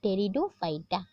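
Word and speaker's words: Pteridophyta: के अंदर उन पॉइंट्स को हम बोलते हैं टेरिडोफाइटा तेरी डूब फाइट इसको पीछे जो है पीठ को साइलेंट रखना पीकर अपना अनशन नहीं करना है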